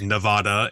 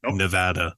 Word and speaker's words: Nevada: one says it right everyone says Nevada and it's not Nevada it's Nevada so thank you as